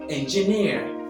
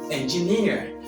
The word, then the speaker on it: engineer: you understand Number Two magazine magazine which is pronounce the word as magazine number three Entertain Entertain number four engineer engineer number five interrupt interrupts number six afternoon afternoon